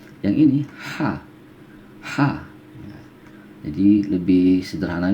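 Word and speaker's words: ح: Yang ini ha. Ya, jadi lebih sederhana, biasanya orang lebih kenal mengucapkannya ha pedas ya. Ya, ha kecil ya, ha. Jadi ada sedikit desirnya, ha.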